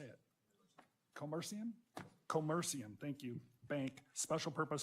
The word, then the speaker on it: Commercium: Co com how do you say it commercium commercium thank you Bank special purpose depository institution Charter